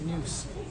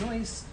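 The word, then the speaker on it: Neus: thought it was pronounced noose but uh a german uh customer came in and uh corrected us and it's actually pronounced noise which opens up all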